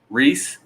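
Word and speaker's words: Rhys: How do you even say that? It's R-H-Y-S. Reese. Reese.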